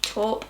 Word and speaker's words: taupe: It's actually like a really nice like taupe color. That's how you pronounce it.